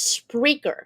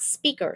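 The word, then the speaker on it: Spreaker: team collaboration features there's spraker not speaker spreer so it's like speaker with an R okay they have podcasting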